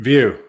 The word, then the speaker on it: Vieaux: View, but I'll answer View.